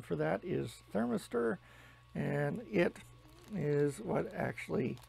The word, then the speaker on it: thermistor: piece of metal here I believe the proper pronunciation for that is thermistor and it is what actually heats up the